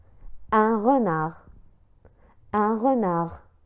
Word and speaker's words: renard: Un renard. Un renard. Un renard. La nontek harf D fi akhir kalimat renard.